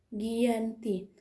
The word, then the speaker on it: Giyanti: Dalam pelafalan Belanda, ia tersebut sebagai Giyanti, Ghiyanti, dan secara tertulis ia terbaca sebagai Giyanti, Giyanti.